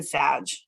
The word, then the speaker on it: Sag: and stuff are in Sag. I'm very much a Sagittarius. It rhymes with badge.